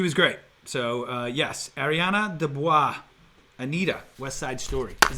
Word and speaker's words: DeBose: So yes, Ariana DeBois, Anita, West Side Story. Is that how you say her name? DeBois. DeBose.